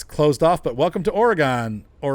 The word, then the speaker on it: Oregon: Oh, it's closed off, but welcome to Oregon. It's Oregon. Come on. G-O-N. Gone. I don't say Gendola. I say gondola. How about octagon? We say octagon? No, we say octagon. It's Oregon, not Oregon.